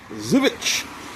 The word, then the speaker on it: Żywiec: Today we're looking at not Zoo. Zivich. Now I'm pronouncing it correctly. Hopefully I'm pronouncing it correctly. Mr. T, you're watching. Zevich Porter comes in at 9.5% ABV.